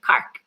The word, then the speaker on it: Cork: So if you've ever been to Cork in the south of Ireland we actually it's not really pronounced Cork. It's pronounced Kark.